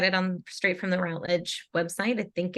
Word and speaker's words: Routledge: never really settled but the majority of people said Routledge that was the way it was pronounced um but some people